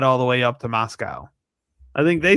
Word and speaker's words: Moscow: You you pronounce it like moss and the thing that eats grass and we get milk from Moscow.